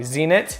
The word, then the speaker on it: Zeenat: okay so I want to make sure I'm pronouncing the names correctly zenit yes and is yes okay perfect very nice